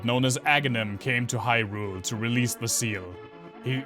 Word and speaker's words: Hyrule: i know always said he ruler um but in breath of the wild in the english version they actually pronounce it hyrule in the german dub